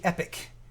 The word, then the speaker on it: Epyc: So on the server side, you'll have AMD Epyc, EPYC is how it's spelled. They like replacing vowels with Y's. Yeah.